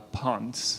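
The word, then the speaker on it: Ponce: intermo by Manuel uh Pon I think it's a p n c I think it's just pronounced Pon sounds good pon pon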